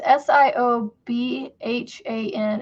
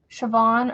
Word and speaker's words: Siobhan: No, it was S I O B H A N. And it was like pronounced Siobhan or Siobhan or something like that.